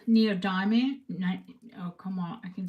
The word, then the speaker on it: neodymium: I think it's neodymium.